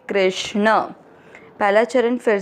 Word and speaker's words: कृष्ण: मनः क के नीचे री की मात्रा है, क आधा है और री से ऋषि की मात्रा क्री, के आर आई। क्री के साथ आधा श षटकोण वाला। कृष्ण और न में मिक्स करेंगे कृष्ण।